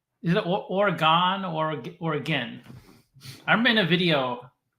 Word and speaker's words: Oregon: Oregon. Is it Oregon or Oregon? I remember in a video, I think it's Oregon. Oregon. Well, it's spelled Oregon, but people say Oregon.